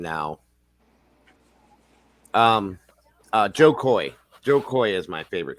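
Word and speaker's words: Jo Koy: Joe Coy. It's spelled Jokoy.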